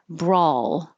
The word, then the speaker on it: brawl: making a Ys Spaniards brawl um this is spelled with an a a w and I usually represent the a sound with an A but I could have used a w it's still a sound brawl umpire umpire mournful